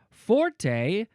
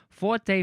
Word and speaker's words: forte: The French would write the word leot and would rhyme it with the English word for fo r.